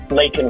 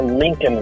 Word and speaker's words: Laken: And when he did mention Laken Riley's name, he mispronounced her name, calling her Lincoln Riley.